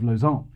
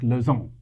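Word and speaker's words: Lozärn: with a name like Lozarn? Well, first of all, because Lozarn is a way cooler name than either Smuts or Doornbosch. But second of all, because Lozarn is the Swiss-German pronunciation of Luzern, and Luzern is the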